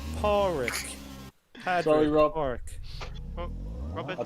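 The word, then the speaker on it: Pádraig: It's pronounced Porrick.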